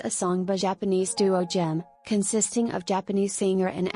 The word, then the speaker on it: GEMN: The pronunciation for gem is the same as gem for gemstones.